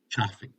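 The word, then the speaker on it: Ciffing: is in Frank I and it's pronounced chaffy so anyway that person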